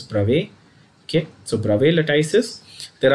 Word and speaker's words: Bravais: and these are called Bravais lattices. ठीक है? I know some people call it Bravais lattice and all that, whatever. It's a French word. It's pronounced as Bravais.